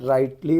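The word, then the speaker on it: rightly: आवाज नहीं आ जैसा जैसे कि अपन राइटली बोल रहे जी एच की आवाज आ रही नहीं आ रही तो इसमें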